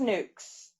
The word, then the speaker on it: NUK: They're pronounced nukes.